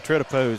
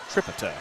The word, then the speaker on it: Tritipo: I want to commend you on Tritipo's the pronunciation of his last name. You know, we listen to a lot of these other streams and radio broadcasts, and it's always Tripito. Tripito or Tripito.